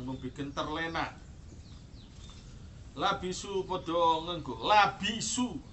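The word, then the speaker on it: لَبِسُوا: Labisu padha ngenggo, labisu bukan labasu, awas. Kalau bacanya labasu nanti keliru.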